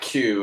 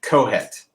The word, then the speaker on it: Qoheleth: I think it's actually pronounced Kohet or Kohet. It's not Q. It's not Q. It's Kohet. Is if I remember the pronunciation right.